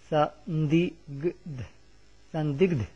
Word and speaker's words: संदिग्ध: अ ग minus a and this this part संदिग्ध सध संदिग्ध सध संदिग्ध सध संदिग्ध सध संदिग्ध